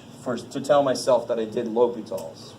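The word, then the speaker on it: L'Hôpital: Because L'Hopital's like, I don't know what's going to happen now. Yes? So when bouncing it, the H and S is silent, right?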